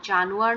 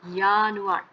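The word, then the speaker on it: Januar: আর জানুয়ার, এখানে কিন্তু জানুয়ার না, ইয়ানুয়ার। জানুয়ার জাস্ট ওয়াইটা নাই, তাছাড়া বাকিটা পুরোটাই ইংলিশের মতো।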